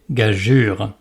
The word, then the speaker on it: gageure: Elle sert uniquement à former le son « je », comme dans prénom Georges, par exemple. Et oui, parce que sinon, ça fait gorge. Donc, si le E se veut muet, on doit par conséquent prononcer « gageure ».